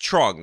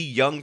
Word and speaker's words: Truong: various local news segments, it is in fact pronounced Truong, which means that this local news lady made